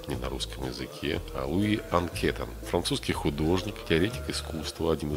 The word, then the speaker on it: Анкетен: Луи Анкетан, французский художник, теоретик искусства, один из основателей синтетизма в живописи. Луи Анкетен, или, возможно, его фамилия произносится правильно, Анкетин, родился в французском городе Трепаньи, в состоятельной семье.